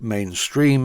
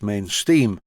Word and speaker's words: Main Steam: main steam models and although the name confuses some people and they pronounce it mainstream if you look carefully its main steam and i called it